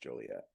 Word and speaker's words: Joliet: That's what it's pronounced, Joliet.